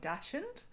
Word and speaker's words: dachshund: Oh um sorry the way you just said um we call we pronounce it in Australia more like dashend. Um so yeah and I heard it more like dachshund and I was like wait what?